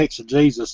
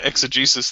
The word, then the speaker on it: exegesis: Or they'll slip in that word, well, that's not the exegesis of it or something. Or you don't know the history of the people or this and that. Yeah, well, that's the exegesis thing is G-Man and Veckel's go-to line.